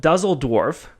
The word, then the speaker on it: Düsseldorf: in this unique place which I'm trying to pronounce properly called düsseldorf is that correct nice alert yells Hannes Berg